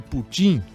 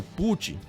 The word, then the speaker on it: Putin: Então aí fica também mais uma pergunta: será que a intenção de Putin ou Putin, todas as duas pronúncias estão corretas?